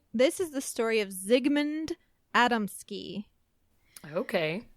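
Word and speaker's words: Zygmunt: up but probably this is the story of zigmund Adamski okay Zigman is the correct pronunciation atom ski no clue so zigmund was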